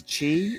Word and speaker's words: chi: organs or the um i think it's chi the greek letter chi um or key it's pronounced key because that was the thing